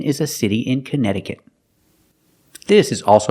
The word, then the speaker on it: Connecticut: remember the pronunciation for Connecticut it's a strange one not Connecticut but Connecticut the second C is silent and the T after that c is pronounced with a fast D sound so together Canada it's